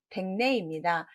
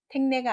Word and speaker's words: 댁내: 이것도 너무 쉽다라고 생각을 하실 텐데 정답은 댁내입니다. 택내가 아니라 집택, 칩택이라는 한자의 발음이 두 개를 다 같이 있고요.